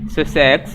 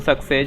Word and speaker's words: Sussex: Sussex, not success.